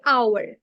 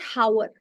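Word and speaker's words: hour: वहां पर लगाते हैं जैसे आवर आवर इट इ नॉट हावर राइट सो ये जहा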